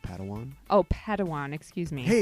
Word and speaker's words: Padawan: family reunion Master Yoda assigned a pad one to this bold Jedi it's pronounced Padawan oh Padawan excuse me